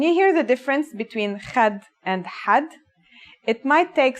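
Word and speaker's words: خد: First, a word which has kha is khad. Khad means cheek in English. And one that has ha is had. Had means limit. Can you hear the difference between khad and had?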